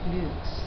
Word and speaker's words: flukes: into that vow okay usually when we have an e at the end it's a long u it's going to be flukes fluk flukes FL like paddle